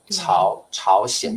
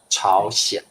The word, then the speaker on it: 朝鲜: 朝鲜这两个字都是多音字朝鲜。